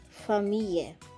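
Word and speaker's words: famille: letter f f like familia which means family here double l is pronounced like y again for me let's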